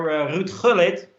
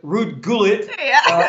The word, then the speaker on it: Ruud Gullit: Haarlem, which actually at FC Haarlem is where Ruud Gullit, or maybe people know him as Ruud Gullit, or however you pronounce his name. We butchered his name. I'm sorry for that. Yeah, Ruud Gullit.